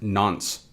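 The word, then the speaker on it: nonce: on from that we have this n nce pronounced nons so what is the nons a nons is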